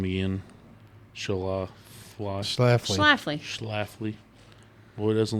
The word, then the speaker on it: Schlafly: It's Schlafly, but you can pronounce it however you want.